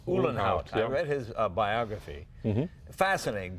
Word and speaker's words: Uhlenhaut: Uhlenhaut. Uhlenhaut.